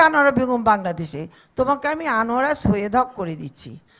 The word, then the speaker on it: আনোয়ারা সৈয়দ হক: সবাই বলে সৈয়দা আনোয়ারা হক অথবা আনোয়ারা হক অথবা কিছু একটা হক, কিন্তু নেভার আনোয়ারা সৈয়দ হক।